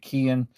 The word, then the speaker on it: Keihin: I actually I've always called it Keihin, but I thought, I should probably Google that and see. And there were a few arguments on it, but Japanese say Keihin.